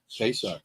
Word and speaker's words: Pesach: Pesach. Pesach, like highway.